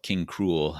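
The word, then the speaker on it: King Krule: for quite a while called king cruel uh cruel actually spelled like cruel boys cruel um it was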